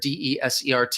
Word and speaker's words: desert: is a multiple meaning word desert des ERT if we're using it as a verb it also could sound like desert so it can be